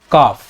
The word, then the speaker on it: calf: First है कॉफ, इसके example हम देखते हैं। CALF, काफ इसे पढ़ा जाता है, F साइलेंट होता है।